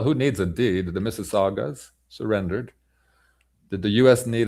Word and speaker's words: Mississauga: Mississauga sausage, because the letter G can be pronounced DJ or DCH, like the penultimate letter in the sausage. So Mississauga.